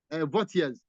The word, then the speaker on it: Vautier: Saunders and Vautiers. In Saunders and Vautiers, what we have there, I'm coming, 1 minute. Saunders and Vautier is Vautier. Saunders is spelled S-A-U-N-D-E-R-S against Vautier. Vautier is spelled V-A-U-T-I-E, where it was held